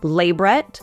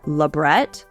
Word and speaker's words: labret: You'll probably hear it pronounced differently, though, as either labret or labret, or anything in between.